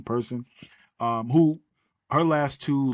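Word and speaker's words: Persoon: Bomer yeah versus delen I believe he pronounced her last name person is p e r s o o n I believe it is Pearson person um who her last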